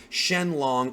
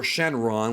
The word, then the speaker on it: Shenron: that we've also got this shenlong or Shenron which whichever way you want to pronounce it the Eternal dragon's statue